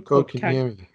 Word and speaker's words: Kotkaniemi: Kotkaniemi.